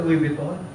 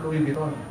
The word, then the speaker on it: Louis Vuitton: Napunta ka sa Louis Vuitton. Pag sa Pilipinas, ang pronunciation mo, Louis Vuitton. When you go to France, you say, Louis Vuitton.